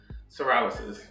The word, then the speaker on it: psoriasis: Psoriasis. That P is silent.